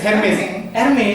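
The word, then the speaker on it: Hermès: Bacanya apa? Hermes. S nggak dibaca.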